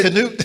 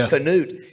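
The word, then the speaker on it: Knute: And what how did you pronounce it? Can you say canute is right canoe is right for many many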